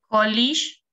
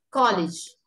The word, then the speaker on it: college: Es ese que es como una D y una Z, el símbolo. Y es como si fuese una Y muy fuerte. Muy, muy fuerte, porque nosotros la Y no la pronunciamos así, no decimos yo. A lo sumo alguien dirá yo, pero no decimos yo. No es lo mismo.